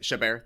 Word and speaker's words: Chabert: 32 years, they brought in Michelle Trachtenberg, Mary Elizabeth Winstead, Lacey Chabert. Chabert. If that's how you say it. Chabert, thank you.